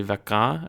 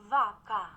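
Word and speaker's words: vacă: vaca, It sounds like the emphasis is on the second syllable. That might just be a weird Google Translate thing, but vaca, vaca, vaca, and that's a different vowel sound too.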